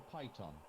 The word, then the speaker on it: piton: rope um i mean it's pronounced piton or python either okay uh well